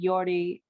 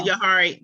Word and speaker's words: Johari: This goes back to, when we did Yordi, that's how we pronounce it, right? That Yordi, the four corners, the window, Yohari. There we go. The Johari, the There you go, Johari Johari.